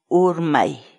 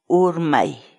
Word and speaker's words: Urmay: series videos where we teach you how to pronounce certain words in Quechua. So our word of the day for today is Urmay. Urmay. Urmay.